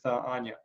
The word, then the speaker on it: Anya: work a lot with Anya. I'm pronouncing it in the Russian way. I know she's pronouncing it more Enya, or different people kind of have their variation.